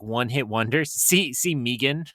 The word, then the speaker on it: M3GAN: See, see Megan, right? Uh, and uh M3gan. Sorry, Jen. I saw you roll your eyes, but I didn't pronounce the three.